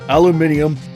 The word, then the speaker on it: aluminium: uh for the record the uk granted albuminium while we americans say aluminum so yeah so don't